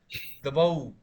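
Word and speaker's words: द्वौ: Now, this one you have to pronounce as Dvau, Dvau, दो. दो. Dvau. This is actually Au ki matra.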